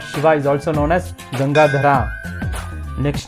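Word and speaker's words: गङ्गाधर: Shiva is called as gangadhara we should always remember that all these names are Sanskrit names and not Hindi names in Hindi the same name is pronounced as gangadhar gangadhar is different and gangadhara is different in Sanskrit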